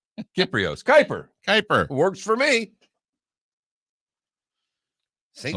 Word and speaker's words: Kypreos: It actually pronounces on Twitter as Kyper, Kyper, even though his last name is spelled differently.